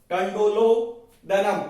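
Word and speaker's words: तण्डुलौदनम्: टंडोलोदनम, देखो औ ही बोला करो, आपको ओ नहीं बोलना इससे, ये औ ही है, उच्चारण में भी औ ही होगा।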